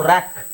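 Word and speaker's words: rock: ಇಲ್ಲಿ K silent ಆಗುತ್ತೆ ಸೋ ರಾಕ್ ರಾಕ್ ಅಂತ ಇದೆ ರಾಕ್ ಅಂತ ಇದೆ ರಾಕ್ ಗೆ ನೀವು ಇಲ್ಲಿ ಆರ್ ಗೆ ರ್ ಎ ಗೆ ಅ ಸಿ ಗೆ ಕ ಕೆ ಗೆ ಕ ಸೋ ಕ ಎರಡು ಸಲ ಕ ಅಂತ ಹೇಳೋ ಅವಶ್ಯಕತೆ ಇಲ್ಲ ಎರಡು ಸಲ ಕ ರಾಕಕ್ ಅಂತ ಹೇಳೋ ಅವಶ್ಯಕತೆ ಇಲ್ಲ ಒಂದೇ ಸೋ ಇಲ್ಲಿ ಯಾವುದಾದರೂ ಒಂದನ್ನ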